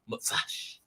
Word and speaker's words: Motzash: In the cool kids say Motzash. It's an abbreviation of Motzi after Shabbat. So there's Motzash.